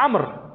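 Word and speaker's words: عمرو: Seperti misalkan Amr bin Utsman, tapi Amr itu ain, mim, ro, waw, ada wawnya. Bacanya Amr. Walaupun bacanya Amr tapi harus ada wawnya. Nah, kalau kemudian gak ada wawnya, orang akan baca Umar.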